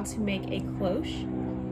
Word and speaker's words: cloche: Today I'm going to be showing you how to make a cloche. I'm 98% sure that's how you say it.